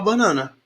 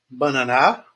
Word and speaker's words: banana: Igual a banana. Banana é uma palavra paroxítona. Banana, banana. Não é bananá, né?